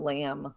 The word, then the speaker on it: lamb: another one but the for the most part you have a silent bee when it comes after an M climb comb crumb Dum lamb I want there to